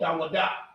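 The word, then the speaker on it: דָּוִד: Okay, in Hebrew, he's called Dawadah. Okay, that's how you would say his name in Hebrew, Dawadah.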